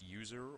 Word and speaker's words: USR: from temp we have we have USR pronounced user or Universal system resources